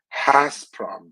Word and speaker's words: Gazprom: Gazprom would have to be called Hasprom because of the G being pronounced H in Ukrainian.